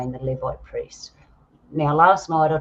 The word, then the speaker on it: Levite: Now, the Levite priests, Levite priests, I think I'm saying it right, Levite priests.